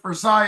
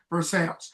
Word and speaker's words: Versailles: So, if you're French, you're going to say it, North Versailles. Everybody else, I think, pronounces it north Versales.